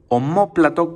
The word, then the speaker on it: omóplato: el nombre de omóplato omóplato con acento en la segunda o y sin la letra h al principio omóplato empieza con la letra o y el omóplato